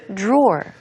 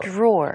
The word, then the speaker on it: drawer: 그러니까 뒤에 ER 발음에 집중을 하기보다는 네. 사실 앞쪽에서 발음 차이가 많이 납니다. Uh-huh. 자, 그리다, draw. draw. Uh-huh. 그 다음에 서랍은 drawer. 끝에 이제 R 발음이 있는 듯 하지만 사실 Yes. 앞에서 구분이 되니까요.